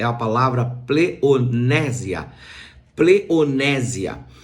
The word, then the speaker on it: pleonexia: E esta palavra koinonia, ela é sempre enfrentada pela palavra pleonésia. E esta palavra pleonexia, que se escreve com X e A, pleonésia, essa palavra pleonésia, ela é uma palavra